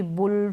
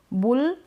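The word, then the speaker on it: bull: बुल, अब बल नहीं बोलेंगे, फल या पश, पट, पसी, अ नहीं बोल रहे।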